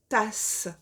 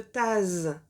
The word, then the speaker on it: tasse: Si on veut que le S entre deux voyelles fasse quand même le son S, alors dans ce cas, on va tout simplement le doubler, c'est-à-dire qu'on mettra de S comme dans le mot tasse. D'accord ? Si je ne mettais qu'un seul S, vu qu'il y a deux voyelles de chaque côté, on dirait une tase. Mais moi, je veux pas une tase. Je veux une tasse.